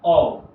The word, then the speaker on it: of: ये जो होता है, ये जो वर्ड होता है, इसका जो प्रोनाउंसिएशन होता है, ये ऑफ नहीं होता, इसका प्रोनाउंसिएशन होता है ऑफ।